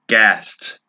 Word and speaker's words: ghast: this is gary he is a ghast pronounced g-a-s-t gassed um i'm gonna tilt